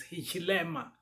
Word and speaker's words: Hichilema: front and you have hakayinde ichilema forgive my pronunciation but it's hishima akainde so he is the